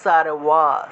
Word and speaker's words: সর্ব: তাহলে ভগওয়ান, ভগওয়ান, সারওয়া, সারওয়া, উবাচ, উবাচ, বাংলায় বললে উবাচ, সংস্কৃতে উবাচ, উবাচ, বাংলায় বললে সর্ব, সংস্কৃতে বললে সারওয়া, সারওয়া, বাংলায় বললে ভগবান, কিন্তু সংস্কৃতে যদি উচ্চারণ করি তাহলে ভগবান, শ্রী ভগবান।